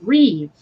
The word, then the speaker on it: Rive: podcast earlier today, and there was this guy whose last name was spelled Rive, but he pronounced it Reeve, and I was like,